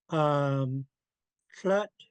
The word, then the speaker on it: Tlut: So Tlut kind of rhymes with like King Tut, except for there's an L in it. So Tlut.